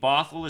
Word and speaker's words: Bothell: Bothell is spelled like bot hell. Bothell. And the reason that I live in Bothell is not because of its name.